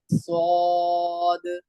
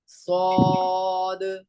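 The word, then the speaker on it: ص: सौद स्वाद नहीं स्वाद सद स्वाद की स्पेलिंग क्या है? एस एस W double A डी एस W double A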